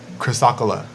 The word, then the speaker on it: chrysocolla: the name you know like it's hard to pronounce sometimes I'm with my braces chrysocolla chrysocolla there we go okay and so this